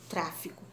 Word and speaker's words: tráfico: Exemplo, máquina, centímetro, tráfico. Vamos separar a palavra tráfico. Tráfico. Có é a última, o fi é a penúltima e o tra é a antepenúltima. Tráfico. A sílaba mais forte é o tra.